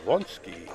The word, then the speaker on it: Derewonski: Derewonski, yes.